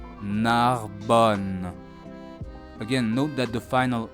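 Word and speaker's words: Narbonne: the east of Spain, the double letters N here sound just like one N sound. Narbon. Listen again. Narbon. Narbon.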